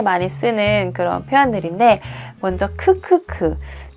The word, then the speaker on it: ㅋㅋㅋ: 쓰는 그런 표현들인데, 먼저 크크크. 이거를 크크크라고 읽거든요. 이게 한글의 키읔, 그 자음 키읔을 가지고 키읔이 나타내는 그 소리가, 음가가 크예요.